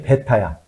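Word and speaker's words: β: 그 다음에 많이 쓰는 게 베타야. 이건 B가 아닙니다. 베타야. 베타.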